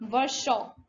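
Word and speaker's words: Virchow: वर्षा ऋतु, तो वर्षा वर्षा, है ना। स्पेलिंग थोड़ी सी अलग होती है बट प्रोनाउंसिएशन में वर्षा, है ना, वर्षा, जिन्होंने एक्सपेंड की थी सेल थ्योरी।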